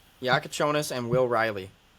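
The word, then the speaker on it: Jakučionis: Yaka Yakonis. Yep. Yakonis and Will Riley.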